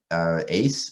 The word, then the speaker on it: AACSE: chance to talk about ace is how i pronounce it last amphibious community seismic